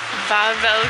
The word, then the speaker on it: Wawel: But we are off to Wawel Castle.